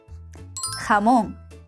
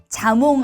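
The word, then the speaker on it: jamón: 호다 하몽 자몽 아니죠. 요즘 한국에서도 한몽을 많이들 먹는 거 같더라고요. 식당에서 매뉴판에 스페인어 혹은 영어로라도 이렇게 쓰 있으면 한번 잘 봐 보세요. 호다라는 철자로 쓰여 있을 거예요. 스페인에서 얘를 호다라고 하고요. 헤처럼 목을 긁는 소리를 내주면 됩니다.까 끼위.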